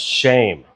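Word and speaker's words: שֵׁם: When you look this word up, name, in the Hebrew language, it's pronounced shame, which is interesting, right? It's not the actual Hebrew word, but the way that you pronounce it in Hebrew is shame.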